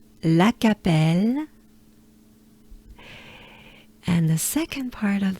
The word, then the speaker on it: Lacapelle: let's do it together take a good breath la capelle la capelle and the second part of the name is